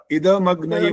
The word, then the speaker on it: इदमग्नये: इदमग्नये, ये जो ना द पूरा नहीं बोल रहे हो। इदमग्नये द हलंत हो रहा है बाकायदा। इद पूरा इदमग्नये बोलना, द हलंत नहीं बोलना होता है।